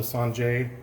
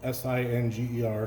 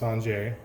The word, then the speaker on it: singer: technique today called the sanjay technique spelled s-i-n-g-e-r so it sounds like or looks like singer but it's pronounced sanjay and what we're going